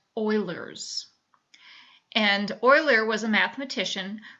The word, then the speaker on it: Euler: Euler's formula it looks like Euler but it's pronounced Euler's and euler was a mathematician who figured out